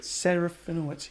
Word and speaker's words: Serafinowicz: Serafinowicz.